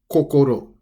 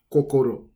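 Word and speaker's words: 心: say the word heart such as heart it's pronounced as kokoro kokoro so that's number one number two is painting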